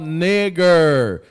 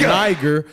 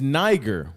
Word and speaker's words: Niger: That was called nigger. It's pronounced Niger, but we all know what Niger means. It's a Spanish word for a Spaniard term for black. It's Niger.